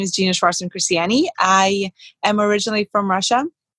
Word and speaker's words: Gena Shvartsman Christiani: Gena Shvartsman Christiani. You pronounced my name so perfectly.